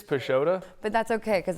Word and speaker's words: Pisciotta: I thought it was pisat it's pesota but that's okay because it only ever gets pronounced like correctly in Italy it's like you think